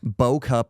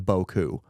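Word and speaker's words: beaucoup: yeah bow cup instead of Boku monsurer instead of misier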